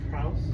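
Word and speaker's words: Frohse: The arcade of Frauds.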